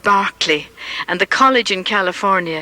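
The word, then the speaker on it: Berkeley: on the right commemorates Bishop George Barkley it's spelled b r k e y but English people call it Barkley and the college in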